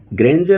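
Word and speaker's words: grandeur: यहां ग्रेंजर उच्चारण होगा। डी ई यू आर यहां ग्रेंजर उच्चारण होता है।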